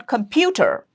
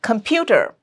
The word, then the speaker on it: computer: Here, the stress is on computer, pew, and K, computer.